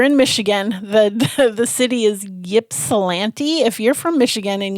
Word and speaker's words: Ypsilanti: The city is Ypsilanti. If you're from Michigan and it's YPSILANTI.